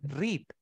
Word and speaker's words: read: Yo leo, leer es read. Su pronunciación cambió a read. Mm, Read es la pronunciación de pasado.